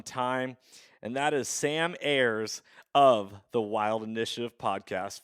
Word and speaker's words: Ayres: for quite some time, and that is Sam Ayres of the Wild Initiative podcast, formerly Living Country in the City. Did I say it right? Okay. Ayres.